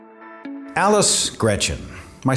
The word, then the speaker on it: Greczyn: i do uh yes it is pronounced gretchen just like the girl's first name it's g-r-e-c-z-y-n and it's